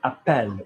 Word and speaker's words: appelle: Okay, appelle. We're pronouncing the L because there's an E after it.